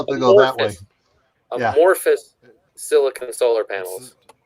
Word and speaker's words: amorphous: But when I had some of the, I always mispronounce this, the anthropomorphic panels.